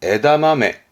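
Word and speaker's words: 枝豆: 발음은 에다마메.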